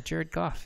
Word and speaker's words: Jared Goff: God yeah golf yeah Jared Goff yeah his first name starts with a J and you pronounced it like a J and then his second